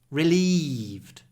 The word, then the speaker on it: relieved: were safe relieved Rel a lot of Y before a voiced V sound reliev relieved I felt so relieved